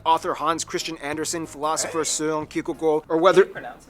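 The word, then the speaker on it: Søren Kierkegaard: hans christian andersen philosopher seung ki that's actually pronounced his name wow it's not soren kierkegaard whether it be the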